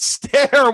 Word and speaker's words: Ster: And it's Ster once more with 47%. Dude, it's pronounced Ster!